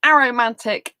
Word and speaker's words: aromantic: like to be an aromantic asexual in this highly sexualized world. So if you didn't know what an aromantic person is, often people pronounce it as a romantic person.